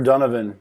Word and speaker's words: Donovan: is it uh dunavan is that how do you say your name i say donovan but i'll answer the